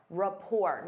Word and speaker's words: rapport: Rapport. Notice that T is silent.